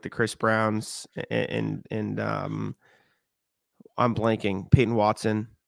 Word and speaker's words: Braun: It's spelled Braun. So I know. I was like double confused. It is Brown, though, I think.